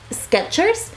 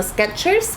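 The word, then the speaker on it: Skechers: inclusive cuando lo pronuncio Por lo general tiendo a pronunciarlo como sketchers con t que sí pensaba que se pronunciaba yo recuerdo vivamente haber visto la t y resulta que no no existe la t la t nunca existió y es sketchers después de mucho tiempo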